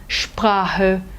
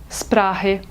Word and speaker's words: Sprache: outros, como por exemplo, o ST e o SP no início de palavras não são pronunciados de forma seca, eles são pronunciados de forma cheia, como se fossem o nosso X, como por exemplo, Sport, Straße, Sprache, Stunde. O brasileiro tem a mania de falar Stunde, Sprache, nada disso.